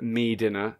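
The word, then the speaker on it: Medinner: None other than the great Bob Mills of Games World fame, who also presented In Bed with Mortimer, pronounced Me Dinner, a show in which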